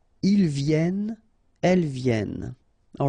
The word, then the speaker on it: viennent: And then ils viennent. So remember, as usual in French, when we talk about conjugation, ENT at the end, you don't pronounce it here.